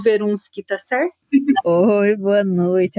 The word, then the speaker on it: Verunschk: ter você aqui e o jeito que eu pronuncio o verun Tá certo Oi boa noite alegria nem é